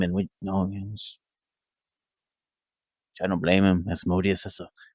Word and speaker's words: Asmodeus: And he gets to the part of his true identity, that he is originally Osmodeus. Yeah, see, asshole. It's all A's.